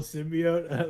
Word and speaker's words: symbiote: he had the evil symbiote like Anyway is it symbiote symbiot I have no idea um I always say symbiote I don't know better I've heard it pronounced both ways and get really angry